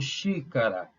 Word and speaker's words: xícara: a xícara ou um xícara xícara a sílaba tônica é che E aí e vocês